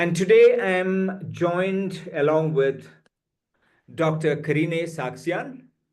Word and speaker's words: Karine Sargsyan: Karine Sargsyan. She's very particular about me pronouncing her name. So it is Dr. Karine Sargsyan.